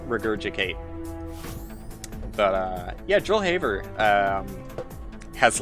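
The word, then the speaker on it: Joel Haver: it's hard for me to go back on mispronunciations just like regurgicate but uh yeah joel haber um has like a lot of incredibly well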